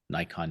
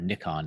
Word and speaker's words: Nikon: day before the show so it is final Nikon now or Nikon as it's actually pronounced is now owner red but I'd say